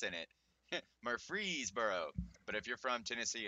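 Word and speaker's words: Murfreesboro: I don't live in Murphy's Boro which by the way I figured out that's pronounced Murphreesboro thanks to GPS Jesus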